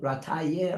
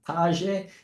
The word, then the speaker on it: Rataje: It's called Rataye or Rataje in Russian. It's spelled with a G in Russian.